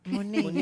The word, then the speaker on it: Mooney: Mooney, yeah. Yeah. Wait, what are you talking about, Wuneen? Mooney. Like if you put Mooney. the accent on the second Oh, syllable. Mooney, it means pussy? It's dirty.